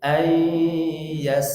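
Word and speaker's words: يستقيم: Ayyastaqim. Silakan. Nah, itu o. Tapi beda dengan kaf, beda tipis tadi. Kalau qaf ayyastaqim, kalau kaf ayyastaqim. Kim, ki, tapi tidak qi.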